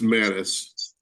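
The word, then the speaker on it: Mattes: Pronounced Mattis, Ken Mattis, thank you.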